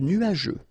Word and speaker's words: nuageux: Remember, final X here not pronounced.